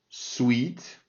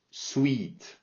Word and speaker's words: sweet: Sour, sweet, juicy. Sour, c'est acide. Sweet, donc c'est un I très long.